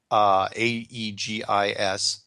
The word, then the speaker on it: Aegis: one of the more advanced, how do you pronounce that? Aegis ships? Yeah, Aegis. I think Aegis.